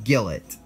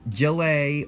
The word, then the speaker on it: Gillet: that's pretty straightforward Belgium this is Gillett not Joey or Jill it it skillet I know I didn't say